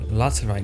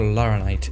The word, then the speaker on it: laterite: Laterite, not Laranite, idiot. Come on, we got this.